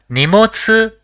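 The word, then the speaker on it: にもつ: see the next word the first character in the word is knee the second is Mo and the third is SU so it will be pronounced as nemotsu which means baggage or luggage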